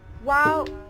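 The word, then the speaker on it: Wau: It is spelled as W-A-U, not W-O-W. It's a wow, not wow.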